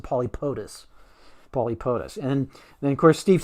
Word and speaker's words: Pauxtis: And I hesitate to say it's the official pronunciation because I firmly believe in letting people make their own decisions on stuff like that. But I would pronounce it Polypotus.